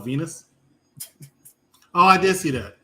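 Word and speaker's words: Venis: The rhymes with penis. Val Venus.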